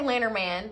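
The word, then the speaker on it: Lenormand: deck and Lynn okay the original pronunciation of Letterman is French and so it's like but I don't want to say that because so I'm just gonna say later man like like good natured American and you're gonna be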